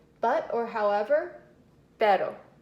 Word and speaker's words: pero: But or however, pero, which is different than perro with 2 R's.